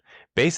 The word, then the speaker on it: Beis: Base is spelled Beis, but it's pronounced base.